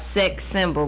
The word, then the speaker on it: Cexcimbal: It's called Sex Symbol, but it's spelled CEXCIMBAL. Spell that again for him.